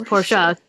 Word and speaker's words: Porsche: was the car that he ultimately you say Porsche that is the proper pronunciation of the car name is pora though throughout the entire episode however they do